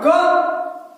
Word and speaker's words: car: और ये लिखेंगे काम, और लिखेंगे हम कार, CAR, कार, का। आर साइलेंट रहता है, हम पढ़ते हैं का, हम पढ़ते हैं का, ठीक है, हो जाएगा क्लियर।